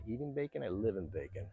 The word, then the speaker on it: Bacon: Um Bacon area. And for the people back in the states that are watching this, it is spelled b a c o n. So it is bacon as we call it.